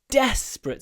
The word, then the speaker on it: desperate: be dispare don't despair but if we say then the stress moves we're in a desperate situation now the stress is on the first syllable so we're in we're